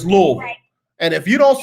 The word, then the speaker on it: Louisville: in the midwest that most people call louisville or lou evil and it's louisville and if you don't